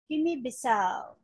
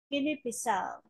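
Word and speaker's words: Guinea-Bissau: shape again, Guinea, B, and then there is stress on the last syllable, which is the fourth syllable. S and A, as in cow. Guinea Bissau.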